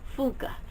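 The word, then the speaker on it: Funke: who narrates it and he pronounces it Cornelia fuka it kind of just a little breath the e on the end it's not really silent but it's not really pronounced it's just kind of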